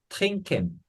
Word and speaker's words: trinken: 그다음 trinken, twinkle, 이 nk가 오면 영어처럼 마찬가지로 이응 받침 발음이 돼서 트린 n 발음이 아니고 nk가 그 이응 받침처럼 돼서 trinken 하면은 영어랑 비슷하게 마시다 이런 단어가 되겠습니다.